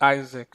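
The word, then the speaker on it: IASC: so welcome to Isaac so to pronounce it Isaac actually so so you can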